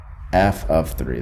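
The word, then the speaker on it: f(3): Now what's the value of f of 3? That's how you say it, f of 3, not f times 3.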